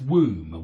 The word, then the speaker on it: womb: tomb okay and that's womb womb rhymes with tomb but womb doesn't rhyme with comb and W doesn't rhyme